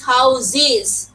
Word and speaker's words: houses: আবার houses, আমরা কিন্তু houses বলি, এটা কারেক্ট প্রনাউন্সিয়েশন না, it is houses. How is it pronounced? Is. Okay, so see the same letter একবার ওরা উচ্চারণ করে এস, একবার উচ্চারণ করে z, একবার উচ্চারণ করে iz. So definitely our students face problem in pronunciation.